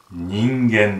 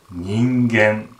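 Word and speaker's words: 人間: これはね、読み方は人間です。人間と読みます。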